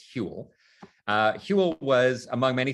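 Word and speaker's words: Whewell: guy called william hewell so that's how you pronounce his name it's not we well it's hule uh hewlett was among many things he was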